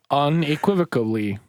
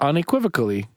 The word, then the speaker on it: unequivocally: Unequivocally. Pronounce that one more time? Unequivocally. Yeah. You added a syllable the first time. What'd I say? Unequivocally. You put a B in there.